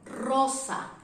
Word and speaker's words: Rosa: Because normally when this letter is starting the word, for example, in the name Rosa, the sound is strong, Rosa, Rosa.